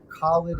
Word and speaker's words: Khaled: So it's Khalid is spelled KHALED as in dog.